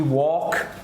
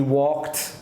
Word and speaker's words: walked: So, all of these sounds have the T at the end.